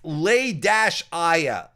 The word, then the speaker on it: Leia: Oh, pronounced Lay-Aya.